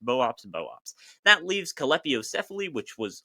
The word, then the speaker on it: Boops boops: The same goes for Boops Boops, which also suffers under the fact that it's almost certainly pronounced Boops Boops.